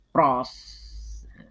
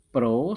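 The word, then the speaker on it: Proust: anak-anakku yang kedua adalah hukum Pro itu proyek Bacanya jangan Frost Pro mengatakan perbandingan massa unsur-unsur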